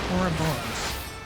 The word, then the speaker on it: Ouroboros: I learned how to pronounce it. Ouroboros.